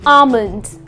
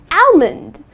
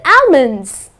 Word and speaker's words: almond: Many people tend to pronounce it as almond. I would like to eat 5 almonds. That's incorrect. The correct pronunciation is almond, okay? almond. Okay, so the L is silent.